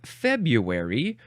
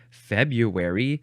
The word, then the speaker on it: February: This happens regularly in February, which is more often pronounced February than February.